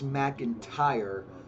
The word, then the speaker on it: McIntyre: MEC and ER and it's McIntyre but I I say his name like an mackinder and that was a